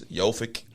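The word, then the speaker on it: Jović: It ain't Jokic, it's Jovic.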